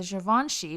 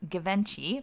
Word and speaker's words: Givenchy: And then his third favorite bag is a Givenchy, which he pronounces Givenchy, by the way.